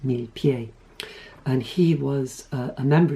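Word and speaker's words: Millepied: Swan Lake was uh Benjamin milipede or I don't know he he was French um so uh might maybe it would be pronounced mil pi and he was a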